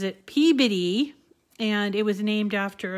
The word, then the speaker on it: Peabody: couple of days ago, we did trivia on Peabody, my city, the city of Peabody, because I was talking about how we name the name of it is actually spelled Peabody, and that's the way most everybody wants to